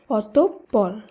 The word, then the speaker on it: অতঃপর: সঠিক উচ্চারণ হবে অতঃপর কারণ উচ্চারণের নিয়ম অনুসারে বিসর্গ যুক্ত শব্দের মধ্যে বিসর্গের পরে যে বর্ণটি থাকবে সেই বর্ণটির দীপ্ত উচ্চারণ হবে তাই এই শব্দে বিসর্গের পরে রয়েছে প বর্ণটি তাই প বর্ণটি শুদ্ধ উচ্চারণে দুবার উচ্চারিত হবে তাই শব্দটি শুদ্ধ উচ্চারণ হবে অতঃপর একইভাবে নিঃশেষ নয় শব্দটি শুদ্ধ